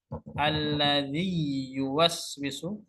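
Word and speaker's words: الذي يوسوس: Alladzi yuwaswisu. Alladzi yuwaswisu. Idgham ya. Dengan masuk ya, masuk ya, ya pertama masukkan ke ya kedua.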